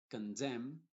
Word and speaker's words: condemn: Y en palabras que terminan en MN, que hay algunas, la N es muda y la M sí se pronuncia. Por ejemplo, solemn, no se dice solemn y con la N al final, solemn, sino solemn. Condemn, por ejemplo, damn o autumn. En ese caso la N está siendo muda.